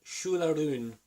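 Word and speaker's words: Siúil, a Rún: pronounce this top thing, it is called Shularoon. It's Irish. It's Gaelic.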